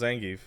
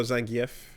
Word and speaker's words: Zangief: How do you pronounce Zangief? Oh, Zangf or Zang. Do you Do you pronounce it Zangief? Do you pronounce it Zangf? Yeah, you said it. Zong gef.